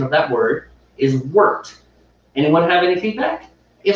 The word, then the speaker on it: wort: but steve was just saying that the proper pronunciation of that word is worked anyone have any feedback if so go ahead